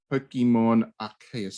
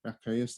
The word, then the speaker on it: Arceus: Anyway, Pokemon Arceus. Is that how you pronounce it? Is that the way we're pronouncing it? Arceus?